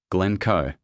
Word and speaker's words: Glencoe: The emphasis is on the second syllable, Glencoe.